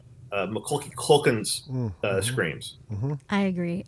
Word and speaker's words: Macaulay: That's how my mom says, McClucken. Am I saying it wrong? It was on the set of the movie Party Monsters, and Macaulay Culkin. Just keep saying Macaulay.